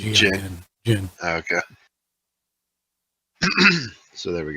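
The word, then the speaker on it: Djinn: Dijin. Or whatever. Jin. How is it? Jin. The D is silent. Yeah, it's just like Jin.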